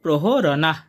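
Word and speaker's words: প্রহরণাঃ: প্রহরনা নানা শস্ত্র প্রহরনা দ্বিতীয় লাইনের প্রথম চরণের উচ্চারণটা পেয়ে গেলাম নানা শস্ত্র প্রহরনাহ এরপর আছে সারভে এখানে দন্তসের উচ্চারণটা ছ এর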